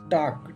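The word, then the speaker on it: talk: है मोड़ना या घुमाना टॉक टी ए एल के एल यहां पर क्या होता है साइलेंट होता है टॉक टॉक मतलब होता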